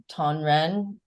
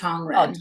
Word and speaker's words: Tongren: So when you're doing this, am I pronouncing it out right? Tonran therapy? Tong, Oh, Tongren. Tongren. Okay.